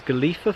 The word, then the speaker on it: Golitha: where he sent of drowned lovely walk through galifa fall it is isn't it so you might recognize it's actually spelled as Golia but it's pronounced as galifa Falls and galifa is a Cornish word it's for obstacle yes